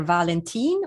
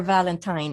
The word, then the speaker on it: Valentin: nickname is and my last name is pronounced either valentine or valentine it is actually the swedish spelling of the name valentine which is why it doesn't have an e on the end okay cool all right